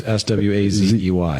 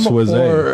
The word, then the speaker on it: Sweasey: It's not like Patrick. Well, it is like Patrick. It sounds like Patrick. Swayze. A Z. Right. Patrick's, I think, is Swazey. Yeah. But Pronounce it. trust me, everybody I know that sees your name says Sweasey.